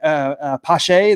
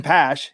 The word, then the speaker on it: Pache: I went last year, and is it Christian Pache, the guy for the the Braves center fielder? Yeah, but I mean, they were calling him Christian Pash. It's like they're mispronouncing his name and everything.